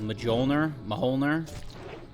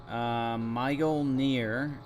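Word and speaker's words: Mjölnir: Mjolnir. The J is pronounced like ya. Mjolnir.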